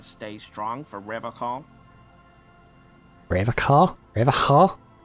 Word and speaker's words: Revacol: Revacol? It's not pronounced like alcohol, it's like shawl, isn't it?